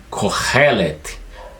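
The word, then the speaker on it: קֹהֶלֶת: aí esse nome está transliterado obviamente e se pronuncia coret coret significa aquele que reúne Ou aquele que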